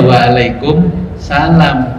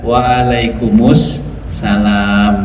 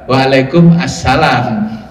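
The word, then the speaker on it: وعليكم السلام: Jawabnya kan waalaikum terus asalam toh. Berarti kan bacanya gimana? Waalaikumusalam warahmatullahi wabarakatuh. Dibaca wakaf di tengah-tengah. Berarti kalau wakaf masa waalaikumsalam kan enggak. Waalaikum assalam warahmatullahi wabarakatuh.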